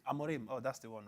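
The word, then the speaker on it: Rúben Amorim: this Ruben amiron uh how how do you pronounce the name Ruben amorim amorim oh that's the one right okay yeah that's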